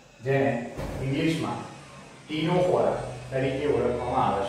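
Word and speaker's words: Ctenophora: कंकतधरा शब्द छे जेने इंग्लिशमां टीनोफोरा तरीके ओळखवामां आवे छे। टीनोफोरा ज्यां सी साइलेंट छे, सी टी ई एन ओ पी एच ओ आर ए, टीनोफोरा।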